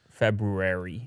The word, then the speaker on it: February: February. With the extra R. I just want to say February. Yeah. So. Well, you're saying it wrong.